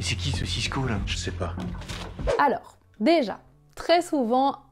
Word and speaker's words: chépa: Et sachez que parfois le s disparaît complètement et on prononce seulement je sais pas, je sais pas. Ça c'est très courant et c'est vraiment du français authentique.